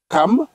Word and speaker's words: Cham: Les fils de Noé qui sortirent de l'arche étaient Sem, Cham ou bien Cam. Oui. Parce qu'on prononce Cam. Oui, on prononce Cam généralement.